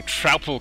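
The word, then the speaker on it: Troupple: drupal king half trout oh trapple king half trout and half apple pronounced like mouthful he's one of the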